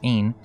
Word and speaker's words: Ein: In this myth, John, Ain, Aeon, or Ein, three forms of the word and all pronounced Ein, represents the redeemed and